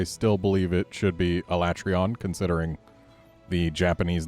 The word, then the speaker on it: Alatreon: be facing off against a latreille on that's how they pronounce it in game I still believe it should be alatreon considering the Japanese name is autobot Orion and the eon is like beyond but a latreille on